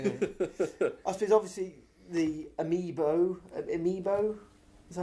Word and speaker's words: amiibo: I suppose obviously the Amiibo, is that how it's pronounced? Amiibo, yes.